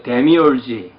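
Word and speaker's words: demiurge: 자, 그래서 그 신을 데미우르게라고 하는데 영어로는 그 데미얼지, 헬라어 발음은 데미우르게, 데미우르게와 여호와.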